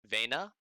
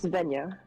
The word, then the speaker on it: Venya: I'll look to Vena. Right? I'm sorry on the pronunciation, I can't remember it. Butchering it, left and right, butchering it. No, it's Venya.